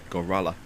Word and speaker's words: Gorale: One is a map called Gorala. Gorale, Gorala. It's a Polish farm, and that is the Polish pronunciation of Gorala.